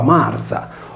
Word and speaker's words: Μαρία: seguita da una vocale nell'esempio di Maria il nome si leggeva Marza Dunque per scoprire il